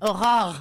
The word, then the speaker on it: Aurore: ¿Cómo se dice el nombre Aurora en francés? I don't know. Aurore.